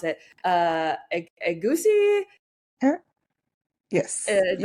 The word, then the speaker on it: egusi: noticing, and I don't even know how to pronounce it, egusi? Yes, Is that you right? said it right. It's a goosey, yeah.